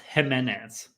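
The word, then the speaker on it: Ximénez: Yeah, so it's spelled with an X, but it's pronounced Jimenez.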